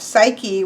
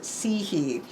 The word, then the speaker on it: Psyche: Of course, we have Psyche, which is how I say it. He pronounced it Sihe.